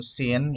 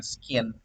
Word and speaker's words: Scene: paham konsep Apa itu Sin ya ini tulisannyaene g dibacanya Sin ya teman-teman bukan skin jadi jangan salah baca